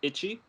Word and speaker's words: ichi: And number one in Japanese is ichi, and so it's Eco, so it's one thing.